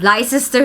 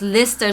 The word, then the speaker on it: Leicester: This one is not not Leicester Square, it's Leicester Square.